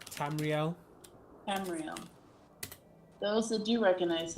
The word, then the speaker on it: Tamriel: How is it pronounced? Tamriel.